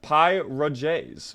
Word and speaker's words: pierogies: It's pronounced pierogies. Well... Pierogies, team. Joji says it, so it is.